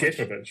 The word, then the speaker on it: Skepovic: Is it Skepovic or Skopovic? Skepovic, aye. Skopovic sounds like a fucking top on the edge, doesn't it?